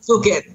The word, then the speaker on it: Bukin: Bukin, yes, Ivan Bukin.